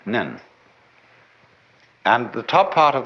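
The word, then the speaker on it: 念: very interesting sign this it's pronounced in Japanese nen and the top part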